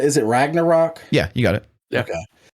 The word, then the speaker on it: Ragnarok: ragnarok uh how do you say is it ragnarok yeah you got it okay um i actually